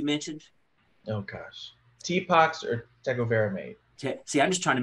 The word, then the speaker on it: tecovirimat: Tepox or tecovirimate. See, I'm just trying to make him say it again. Dr. Chastain, have we been saying it correctly? Hey, I like it. It sounds good to me. So tecovirimate.